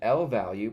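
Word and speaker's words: lvalue: An L value, pronounced L value, represents an object stored in computer memory, not a constant or the result of a computation.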